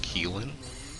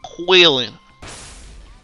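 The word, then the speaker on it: Qilin: Actually, I believe it's pronounced Keelan. Nah. It's Huang Long and Quillin.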